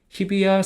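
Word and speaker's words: 日比谷: 거예 고기 이곡이라고도 합니다 이서 이거는 보통 예외로 야라고 읽어요 그래서 뭐지 지명 읽을 때이 한자 나오면 항상 야라고 있습니다 그래서 히히 야 셋인데이 히 같은 경우는 타마가 돼 가지고 비라고 있습니다 그래서 히비야 생이라고 있습니다 한번 읽어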